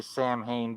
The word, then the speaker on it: Samhain: Okay, is it pronounced Sam Hain like Loomis does? In English, they say Sam Hain, but the actual word in Irish is pronounced Samhain.